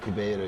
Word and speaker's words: Ribeiro: Scott with Grapple TV, and I'm here with Xande Ribeiro. Did I pronounce that correctly? Or? Xande Ribeiro. Xande Ribeiro. Ribeiro, yeah.